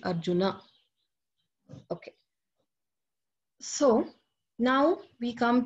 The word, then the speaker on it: Arjuna: If there is no dash, you have to add the akara. Okay, so in Sanskrit, that will be the correct pronunciation. So it will not be Arjun, it will be Arjuna.